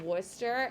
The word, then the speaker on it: Worcester: is pronounced in massachusetts worcester massachusetts looks like worcestershire and we don't care it's called worcester and that's just how